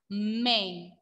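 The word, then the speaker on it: mais: But the pronunciation is may. May, not mice. Mice, the pronunciation is of this word is mice, and this one is may. May, without the trema.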